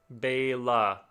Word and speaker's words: Bella: Bella is pronounced like Bela. Oh, Bella? Oh, Bela? Okay. Nice. Okay. Like the E in cafe.